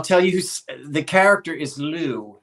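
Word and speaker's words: Liù: And I'll tell you, the character is Lou. I think is spelled L-U-I. I think most people pronounce it Lou.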